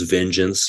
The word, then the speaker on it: Vengince: And then I got for the bands Vengeance, but spelled like gin in the middle. So VENGINCE, Vengeance.